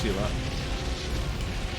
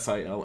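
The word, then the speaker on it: Ciri: seeing your name being pronounced Sheila it is pronounced Sheila there's a little accent over the I it's not si la it's like an SI SSI accent and I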